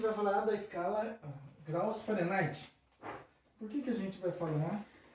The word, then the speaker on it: Fahrenheit: A escala graus Fahrenheit ou Fahrenheit, aí você, a forma de pronúncia, né, é a forma de pronúncia alemã, né, e a Kelvin.